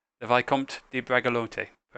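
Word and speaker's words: Bragelonne: d the vicomte de bragalonte dragalon bragalon the e's not pronounced go ahead of that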